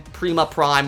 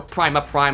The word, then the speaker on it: Prima Prime: he himself got from Prima Prime or Primus Prime however you want to pronounce it. They Liege pronounced it Prima in this show so I'm I'm going to call him Prima Prime.